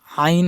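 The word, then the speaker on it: ع: করা যাবে না রবার আইন হরফ মাস করব আইন আইন হরফের মাখরাজ হলকের মধ্যখান মানে গলার মধ্যখান থেকে উচ্চারণ হবে হালকা চাপ দিয়ে বেশি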